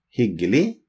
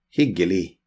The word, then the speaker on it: hyggelig: Hyggelig. Like pleasure. Nice to meet you. Pleasure to meet you. Hyggelig. The G is silent. Hyggelig.